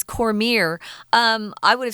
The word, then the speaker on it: Cormier: Tom and I were talking about how to pronounce his name but we looked we looked it up online he says Cormier I would have said Cormier it's kind of a French name there but